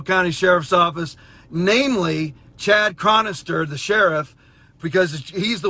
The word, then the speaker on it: Chronister: Office the sheriff uh Chad cron chronister I believe is how you pronounced his name Chad chronister and his cohort with